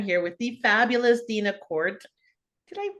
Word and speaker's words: Kordt: and today I'm here with the fabulous Dina Court did I pronounce the last name right Court you sure did good um from nearby Left